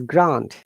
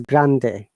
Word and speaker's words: Rio Grande: the rio grant okay when you're pronouncing this in english it is grand but while it is spanish it is grande so rio grande is